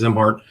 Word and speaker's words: Szimhart: His name is Joe Zimart. His last name is spelled S Z I M H A R T pronounced Zimart.